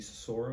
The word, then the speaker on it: Sora: so as an example someone went to you Sora is that how you pronounce it yes Sora Somebody went there and gave it was given